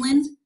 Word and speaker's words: Lind: Did I pronounce that right? Your last name, Lind?